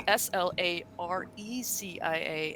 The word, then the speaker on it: Slarecians: I call them yeah to pronounce there is an eye there so I'm leveraging it it's SLA or EC ia and and if you